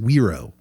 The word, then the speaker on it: gyro: like Gyros but I was told you're it's pronounced weiro oh okay and those were amazing like Luke